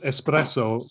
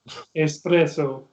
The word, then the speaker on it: espresso: spell it like that pronounce espresso with like an x at the beginning like the word express these are all things